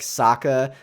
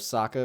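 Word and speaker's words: Sokka: was auditioned for the role of Saka or sooka as they pronounce it and was offered the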